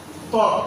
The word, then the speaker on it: ত্বক: যেমন ত্বক একটি শব্দ, ত্বক শব্দের শুরুতে তয়ের সঙ্গে যে ব ফলা আছে এই বয়ের উচ্চারণ হবে না।